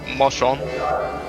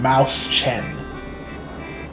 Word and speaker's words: Mäuschen: Mouse Chen. Mouse Chen? Yeah, apparently it means mouse.